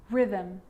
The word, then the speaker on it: rhythm: The H is silent. So it's choir, choir, echo, echo. With a G, ghost, ghost. And with an R, rhythm, or rhyme.